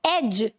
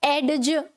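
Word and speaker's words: edge: तो ये जो डी रहता है यहाँ पर, ये क्या रहता है? साइलेंट. इसे हम नहीं बोलते. ठीक है? एडज. एडज ये बोलते हैं क्या हम? नहीं. ये जो डी है इसे नहीं बोला जाता, इसे ड्रॉप कर दिया जाता है व्हाइल स्पीकिंग.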